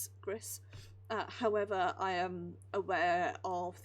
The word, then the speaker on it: Gris: However, Gris, I think it's pronounced, not Greece, as I keep wanting to say it. Gris.